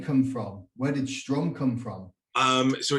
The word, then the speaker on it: Strom: In the last 2 or 3 years, people know the name Strom. Absolutely. And I don't have to correct them. But for years, people would call it Storm.